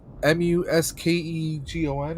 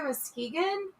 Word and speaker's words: Muskegon: find out where not yet uh he says m-u-s-k-e-g-o-n i don't know how to pronounce that muskegon oh he's over by muskegon yeah that's what he said muskegon why you